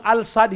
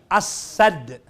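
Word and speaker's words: السد: Yung Al-Sad, hindi yan Al-Sad. Letter C niyan As-Sad.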